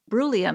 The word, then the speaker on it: Brulium: interesting and sound scientific brulium is that how you pronounce it it is well done yes exactly tell us how you